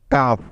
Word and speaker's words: cough: তাই নিয়ম অনুযায়ী এখানে GH এর উচ্চারণ হবে ফ এর মতো। যেহেতু GH এর আগে ইউ এবং তার আগে একটি কনসোনেন্ট আছে, তাই সুতরাং COUGH মিলে হয়ে গেল কাফ।